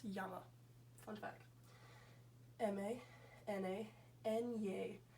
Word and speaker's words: llama: And then this, the double L always makes the Y sound, so that's a little bit tricky, but you would pronounce that A.